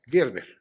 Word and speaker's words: Gerber: Gerber, como alimento infantil.